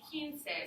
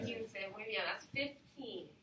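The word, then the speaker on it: quince: it's actually kinsey so it's not one of the math problems so it's a little bit of a trickier one and it's harder to pronounce too with the q so it's kinsey okay so we're going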